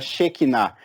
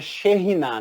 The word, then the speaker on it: Shekhinah: E por que a teologia abomina a palavra Shekinah? a pronúncia correta seria Shekhinah, né? Esse K é um R forte. Então é Shekhinah.